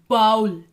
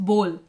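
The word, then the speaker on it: bowl: तो recipe writing में आया बाउल, इट्स बोल. तो मेरी ऑब्जर्वेशन मेरी ही एचएम मैम कर रही थी, मेरी प्रोनाउंसिएशन गलत थी, मैं उसको बाउल बुला रही थी, इट्स बोल. तो जब लास्ट में क्या हुआ, उन्होंने कहा आप बैठो, मैं 5 मिनट क्लास लेती हूँ. तो जब उन्होंने क्लास ली तो उन्होंने उसको बोल बोला, बाउल नहीं बोला, बोल बोला, और मेरी तरफ इशारा किया.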